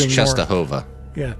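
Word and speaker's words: Częstochowa: Jeremy, because Oh, we're It's pronounced moving north. Chestahova. Yeah, Chestahova?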